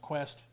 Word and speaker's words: QST: QST, or pronounced Quest, has a new service where they design games and they send you a new game every month.